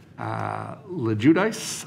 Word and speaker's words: LoGuidice: Susan Brown was there, and Margaret LeJudice, I think, is how I was told to pronounce it.